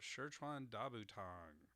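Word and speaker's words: 十全大補湯: It's Shirchan Dabutang. So Shirchan Dabutang. So that's second tone, fourth tone, third tone, first tone. Shirchan Dabutang. That is the correct, or somewhat correct pronunciation, as correct as I can get it with the tone marks here.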